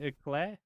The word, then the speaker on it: eclair: was getting an eclair, and I overpronounced the E, and he just started doing the EA Sports in the game. This is why you gotta have best friends. It's fucking eclair.